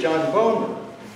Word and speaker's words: Boehner: there was this guy, John Boehner. John Boehner's name really is John Boner. It's true. He had to ask them to not pronounce his name like that.